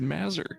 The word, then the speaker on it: Mazur: That's how you say his name, is Mazur.